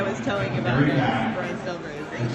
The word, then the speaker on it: Stelfreeze: Stelfreeze. See this? See this person? That's how you say his name.